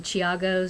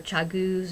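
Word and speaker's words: ChiaoGoo: one pair of um Chiago or Chago I've heard the two different ways um pronounced and I do like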